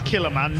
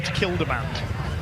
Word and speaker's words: Kildemand: Apparently I've been pronouncing Peter Killerman's name wrong all season, so apologies to the Dane there. It is Killerman, not Kildemand.